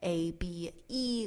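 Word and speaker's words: Abé: Shanna, Shana, Abe, A-B-E, with an accent over the E, so I'm guessing it's Abe.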